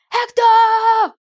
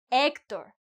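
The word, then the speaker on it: Héctor: It's Hector, not Hector as Brad Pit called his enemy Hector. Okay. So now you remember if you meet a person say whose name is Hector. Hector, no Ector.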